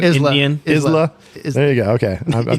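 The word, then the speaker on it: Islay: uh eastl or or how do you say Isla there you go okay I've never been to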